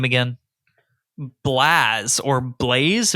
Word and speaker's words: Blaaz: this guy's name again blaz or Blaze b-l-a-a-z I'm going with blaz because the double A makes it makes the a sound so blast blase no it's just blaaz okay blase is spelled